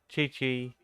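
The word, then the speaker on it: Qiqi: like you guys are, and we would have pronounced it the way you think I should. But no, it's Zhongli, Chi Chi, and Kaching.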